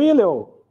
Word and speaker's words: Hillel: O Hillel, alguns pronunciam Hillel, que era o avô de Gamaliel, que depois ia ser o professor de teologia de Paulo.